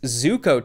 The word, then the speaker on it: Zuko: In the sponsorship contracts, they must not add in how to pronounce the scam coin. It's Zuko token, and it's already dead.